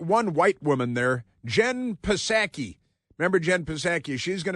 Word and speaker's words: Psaki: They pronounce it Psaki, even though there's a P in front of it. It's like pneumonia. It's kind of like pneumonia.